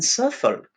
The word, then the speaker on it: Suffolk: found it on a beach in surfer that's how he pronounces it with an heirloom folk